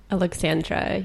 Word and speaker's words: Aleksandra: Aleksandra, yes.